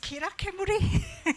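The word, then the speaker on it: Kizhakemuri: the Kisakemuri Foundation, DC Kisakemuri Foundation. So I'm probably not pronouncing it right. Is it Kirakemuri? Yes.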